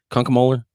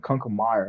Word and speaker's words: Kunkemoeller: Kunkemoeller? No, that's how it's said. Oh, okay. It's not as hard as it looks. I'm sure people fuck it I've up. gotten people saying Kunkemeyer.